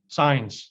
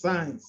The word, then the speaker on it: Saenz: Arvin Saenz, did I pronounce that last name correct? Saenz, yes. Saenz, thank you.